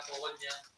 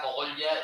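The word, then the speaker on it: Cogolla: Y San Millán de la Cogollla está yo creo que la única palabra donde pronuncio la L, Cogollla, porque queda muy bien, ¿a que sí?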